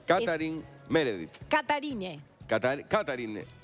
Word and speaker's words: Katharine: viendo cómo se pronuncia katarine meredit catarine catarine Sí con tilder la primera a se pronunciaría Pero y la e y la th como una t es difícil pero es catarine algo así catarine meredit